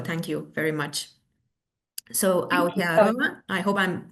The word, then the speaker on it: Aotearoa: So Aotearoa, I hope I'm pronouncing it well.